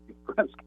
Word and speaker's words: Yastrzemski: Carl Yastrzemski's baseball card in the early days threw me off, but it's pronounced Yastrzemski. It doesn't look like it should be, but it is Jim